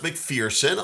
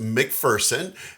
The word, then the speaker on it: McPherson: have seen this before and thought it was pronounced mcferson a lot of people do pronounce it mcferson